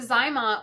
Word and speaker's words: ZyMot: that um what is that yeah so the zymot which is spelled z-y-m-o-t okay um it was invented by